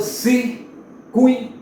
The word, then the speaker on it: circuito: Então você diz circuito. Veja que o U é pronunciado mais forte e o I quase que não aparece.